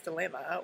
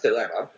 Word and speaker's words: Thelema: it which I pronounced dilemma is a very poor and I would say my pronunciation is ancient Greek for me because I studied it as University and United